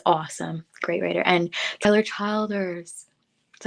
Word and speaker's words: Childers: kelly he is awesome great writer and keller childers that's how you say his name childers tyler